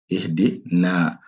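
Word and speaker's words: اهْدِنَا: Donc là, c'est le I. Donc là, il faut prononcer ça comme I. Ihdina.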